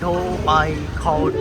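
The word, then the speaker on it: Dhoby Ghaut: मैं तो इसको धोबी घाट पढ़ूँगा, ये लोग ढो पाई खाउट अजीब सा प्रोनाउंसिएट कर रहे हैं, बट है तो धोबी घाट ही है।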